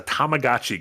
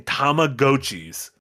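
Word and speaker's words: Tamagotchi: the the keychain thing yeah the guy kept pronouncing tag GOI oh no I'm like my thing he kept saying tomag GOI no I'm not I'm not thinking of tomadachi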